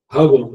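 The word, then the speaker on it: Hubble: que fica aí no espaço, né, o dibúvo, hub, né, que a pronúncia correta, mostra aquelas galáxias distante, né?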